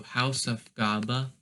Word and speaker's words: Hausaufgabe: You have to split it up into like 3 syllables. So you have house, which is house, then auf, and then Gabe. So you gotta say it in like sort of like that. So Hausaufgabe would be how you pronounce it, and die Frau.